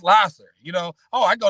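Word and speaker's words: Lahser: lasser and uh a lot of folks say lasser but it actually is pronounced lasser. L a h s you know for folks that say lasher lasher is ls r.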